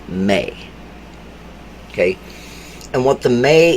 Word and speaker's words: Me: mainstream calls the May it's me but it's pronounced May okay and what the